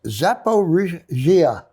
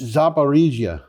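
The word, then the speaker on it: Zaporizhzhia: supposed to be pronounced zaparrisia zepa regia chzh is zhzh it doesn't mean that you have to pronounce zh twice it's kind of like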